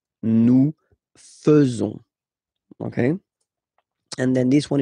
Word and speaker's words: faisons: So it's quite strange because French people tend to pronounce faisons, okay? So like here, this A-I is not pronounced like normally we should pronounce it like E, but then like E, okay? Nous faisons. Nous faisons.